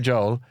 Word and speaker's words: Joel: I mean, I don't say his name that often, but if I was to, I'd say Joel. I say quite a lot. Right. And I say Billy Joel. And it's an an Irish thing.